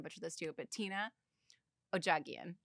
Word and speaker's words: Odjaghian: I'm I'm probably going to butcher this too, but Tina Ojagian.